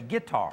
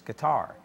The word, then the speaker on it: guitar: Now, if I was country, I'd say guitar. That's right. But the correct pronunciation is with the accent on the last syllable, so it's guitar.